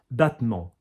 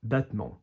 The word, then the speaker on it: battement: Okay, battement, battement. So battement, okay, battement, okay? Not a hard T, not battement, not battement, like battlement or anything.